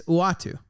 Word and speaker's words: Uatu: I'm always hesitant to say his name because he's the mascot of the show. I'm like I'm going to say it wrong. It's Uatu.